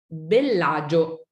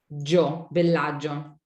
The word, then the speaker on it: Bellagio: Bellagio. Bellagio. You don't hear the I. Bellagio. So it's really not 4 syllables like we Americans think it is, right? No. Bellagio.